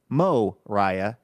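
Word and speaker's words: Moriah: Mariah Spicer of Chicago Illinois like Mariah but Mo Riah is what Mariah says in the pronouncer and Mariah just says this Andrew please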